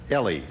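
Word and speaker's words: Eli: And it's pronounced Ellie.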